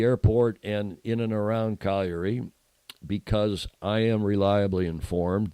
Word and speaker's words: Cagliari: It looks like Cagliari to Anglos, but it's pronounced Cagliari, or almost a correct pronunciation, Cagliari, which is there's 3